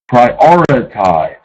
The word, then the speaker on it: prioritize: Prioritize, prioritize. A verb, accent on the second.